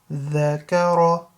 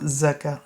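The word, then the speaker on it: ذَكَرَ: So hasada, hasada, hasada, dhakara, that's a dhal, not za, yeah? It's not zakar, it's dhakara, dhakara, and ra has to be full mouth, yeah?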